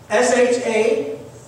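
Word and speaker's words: Shabbath: Do you know how the word rest is spelled in the Old Testament in Hebrew? S-H-A-B-B-A-T-H.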